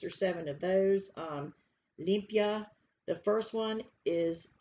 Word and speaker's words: limpia: asked the definition of limpia okay that's how you say it olympia in spanish the definition of this